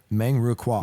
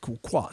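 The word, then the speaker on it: Meng Ru Kuok: So they were saying, I know you mentioned Meng Ru Kwok, is that how you pronounce? Yeah, Meng Ru Kwok. Yeah, right. Yeah, Kwok, sorry.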